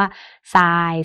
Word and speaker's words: ทราย: นะ คะ อย่าง เช่น ธร เป็น เสียง ซอ นะ เช่น คำ ว่า ทราย ซาบ ทรง ซวง ไท